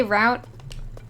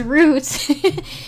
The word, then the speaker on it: route: pronounce route route route apparently the British way is root and the American way is Route yeah apparently apparently I'm